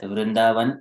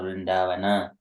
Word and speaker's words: Vrindavan: For example, in Telugu language, Vrindavanam. So it is kind of, it's ends with akaram, and also the or zero sound like that.